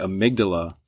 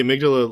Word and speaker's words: amygdala: So like the way to think about it is it's Amy G. Dalla if you spell it out.